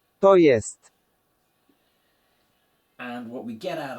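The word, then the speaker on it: to jest: of there is that the J sound in Polish is always said like J in yacht in English. So it's that Y sound. The rest we know. We've got the O like in orbit and we've got the E like in elephant.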